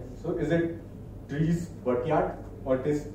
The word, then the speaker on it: Dries Buytaert: There is one German pronunciation, one is English. So is it Dries Buytaert or it is Dries Buytaert?